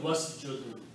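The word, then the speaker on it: واسجد: Okay, so when you put waw before that, waw means and, and don't pronounce this alif, it becomes wasjud.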